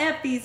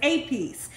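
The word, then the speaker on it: épis: I know some people are gonna say it's not EPIS, it's APIS. I know it's APIS, but I like to say EPIS.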